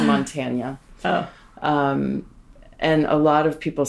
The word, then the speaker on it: Montanya: But I also knew that we couldn't spell it with the traditional Spanish Nye, or the tilde on the N, because people would say, in the US would say Montana. We didn't want to be Montana rum. Right. So I added the Y to be Montanya rum so that we could trademark it, so it was unique to us. And people would actually pronounce it correctly when they said it.